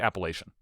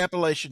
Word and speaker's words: Appalachian: You do not say you you don't say Appalachian. Not here. You don't say Appalachian here. And but I will also I think I may give a zero to this one too because it's also a trap because the mountain train the mountain chain that runs from Maine to Georgia is Appalachian.